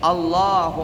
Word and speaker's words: Allah: Yang pertama membaca takbiratul ihram, Allahu akbar. Dan bacanya harus benar. Jangan Allah, Allah. Tidak ada tasydidnya, tidak boleh. Mesti pakai tasydid.